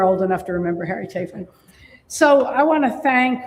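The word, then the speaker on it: Chapin: It's it's Chapen. And remember Harry Chapen, the musician, and that'll help for those of you who are old enough to remember Harry Chapen.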